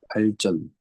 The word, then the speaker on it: 발전: 발음해봐. 발전. 쩐이잖아, 쩐. 근데 네.